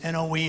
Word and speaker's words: Noe: I'm Noe, and it's N-O-E, it's pronounced Noe. So can you imagine a guy in sales that started off with the last name of No?